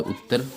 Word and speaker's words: उत्तर: ध्यान देंगे दोस्तों, उत्तर की स्पेलिंग होती है UTTAR, हालांकि TT से पढ़ा जाता है उत्तर प्रदेश, ठीक है।